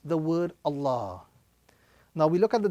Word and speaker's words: Allah: So firstly, the word Allah will have a round